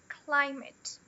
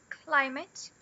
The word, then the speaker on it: climate: Porém, como ela é a sílaba unstressed, a gente pronuncia com o schwa.